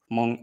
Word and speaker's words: Hmong: uh not uh then when an H is put before nasals like in the name of the language itself among its uh sort of devoiced nasal sound if you've learned uh